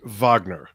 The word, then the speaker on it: Wagner: favorite Yes album and I probably should have pronounced it Vagner oh yeah yeah makes